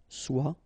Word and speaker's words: soit: Okay, then of course être and avoir, so être will become soit, remember final S is not pronounced, soit, then soyons, soyez, all right, soit, soyons, soyez.